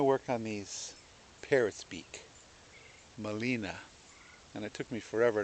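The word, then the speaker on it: Gmelina: on these parrots beak Molina and it took me forever to remember that Molina is actually spelled with a G which is silent and it's oh there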